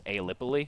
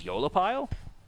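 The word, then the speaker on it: aeolipile: So I'm saying Eolipile because when we were on the Google last night and we typed in a pronunciation guide, because I had no idea how to say it, when I made the video, thought it was Aelipile. Can you shift the... Apparently the pronunciation is Eolipile.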